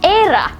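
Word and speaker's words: Éire: it's italia of course um in ireland it's era which is very interesting it's e-i-r-e which is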